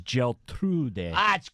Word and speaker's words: Geltrude: They never think Italian, but the pronunciation, Joe, is Geltrude.